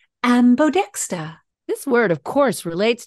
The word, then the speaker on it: ambodexter: Philadelphia how do you spell that word it is spelled a m b o d e x t e r ambodexta this word of course relates to the term